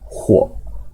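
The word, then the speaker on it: 火: Bacanya huo.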